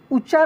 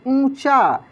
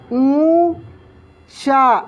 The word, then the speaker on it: ऊंचा: ऊंचा नहीं, ऊंचा। यानी नाक से इसका उच्चारण होगा। कैसे? देखिए ऊंचा, ऐसे ऊंचा।